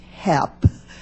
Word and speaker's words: HEP: Basic research, such as that which is funded through the Office of Science's High Energy Physics, also known as HEP, pronounced HEP, is proper use of taxpayer funds.